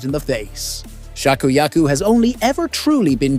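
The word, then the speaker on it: 芍薬: And in Japanese, peony is pronounced shakuyaku.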